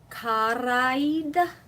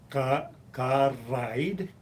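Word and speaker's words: cara ed: Because it looks like kara, aid, two different words, but the two vowels, the last vowel of kara and the first vowel of aid is elided. The vowels are elided.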